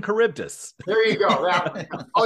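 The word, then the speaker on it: Charybdis: took Latin in school it's Sila and caribdis there you go that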